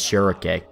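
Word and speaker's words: Schierke: is actually Silk, but most people pronounce her name as Shurake. That feels weird to say, and I've always just kind of called her Shrike, like the bird, because she has a running theme with being compared to birds.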